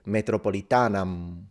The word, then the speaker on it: metropolitanam: They said, do not pronounce the M if you don't want to sound like a barbarian, which means fully nasalize it, metropolitanam, which makes it sound like Italian, metropolitana.